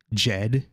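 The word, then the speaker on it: Djed: in terms of terminology jed and and that's the proper way to pronounce the jet comes from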